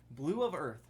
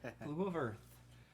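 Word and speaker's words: Blu of Earth: Blue of Earth. Wow. Yeah, it's Spelled BLU. It's definitely That's for his retarded. girlfriend. Blue of Earth.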